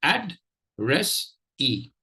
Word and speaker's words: addressee: They are addressee. Addressee. Addressee. Syllable 1 is add. Syllable 2 is res. Syllable 3 is e.